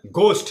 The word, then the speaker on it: ghost: vote ni mani ha amahai burasa abo sing ghost ni poriu ghost of the year ghost ya